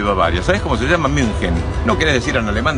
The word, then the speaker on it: München: München. No querés decir en alemán, decís Múnich. Estoy cansado de escuchar inventos como Múnich, Múnich. No existe eso. Es Múnich en español y si no, München.